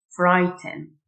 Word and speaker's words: frighten: خائف Frighten. GH silent Frighten.